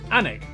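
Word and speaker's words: Alnwick: in cuanmore quorma before finishing up in almwick anak which is near newcastle or as the people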